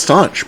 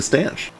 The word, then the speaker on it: stanch: I thought it was staunch, but I googled it and they corrected me to stanch. I just thought it was pronounced staunch. Yeah, I assume it's just Stanch. pronounced weird.